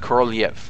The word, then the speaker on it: Korolev: Actually, I believe it's supposed to be pronounced Korolev, but oh crap, there goes an engine.